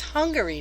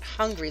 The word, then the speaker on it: Hungary: but her poor thing it's Hungary not hungry like you hungry food hungry hung I say it this way okay potato potato doesn't matter Miss Hungary wow and I'd like